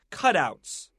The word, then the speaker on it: cutout: they're really different ready cut outs and cut out cut out the word in our magazine is a compound word we have two words together so we want to stress the first syllable negative so we know